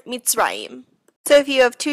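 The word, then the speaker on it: מִצְרַיִם: And if the shva closes a syllable, it acts as a stop sign, like in the word mitzrayim.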